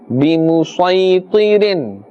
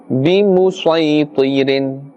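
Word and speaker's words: بمسيطر: and as we mentioned, in this example we must always pronounce the Sad and not the Seen. although we will see the seen written there. Alright, so we will pronounce in this manner. بِمُسَيْطِرٍ بِمُسَيْطِرٍ.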